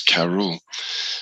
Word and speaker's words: Cerball: i was saying but now thanks to ryan i pronounce it correctly and that that's karul so these two here